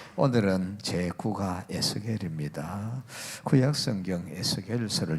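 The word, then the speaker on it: Ezekiel: 하나 해 놓으시고요 영어은 조금 틀립니다 우리 발음으로 그냥 겔이 하지만은 에겔이 번역이 돼 있지만은 영어는 조금 다르게 돼 있습니다 에제키엘 요렇게 되져 있습니다 영어 성경을 보시면 이렇게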